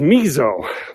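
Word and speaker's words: Myzo: His name is Mizo, but it's spelled M-Y-Z-O.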